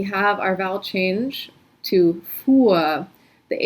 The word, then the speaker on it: fuhr: So you don't have to pronounce the H, just pronounce a long U sound.